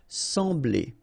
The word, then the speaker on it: sembler: So EM will give you the sound en, okay? So you don't pronounce the M, you just get the sound en. Sembler, sembler, okay?